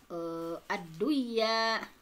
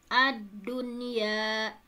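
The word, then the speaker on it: الدنيا: Jadi tidak dibaca aduya, buyanun, siwanun, tiwanun, tetapi dibacanya izhar atau jelas. Adunya, bunyanun, sinwanun, tinwanun.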